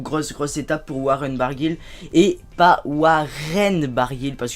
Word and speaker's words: Barguil: il me semble qu'il est breton bargil donc c'est waren et pas waren bargil donc voilà je